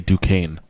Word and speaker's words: Duquesne: It's probably I never Yeah, would they have do it guessed as- that is how you say Duquesne.